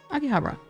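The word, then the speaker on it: Akihabara: kind of like the city and akih bra akih Habra that's how you say it um real Brazil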